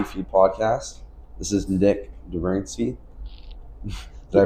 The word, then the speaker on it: Dobrinsky: This is Nik Dobrinsky. Did I pronounce that right? Dobrinsky, close Dobrinsky.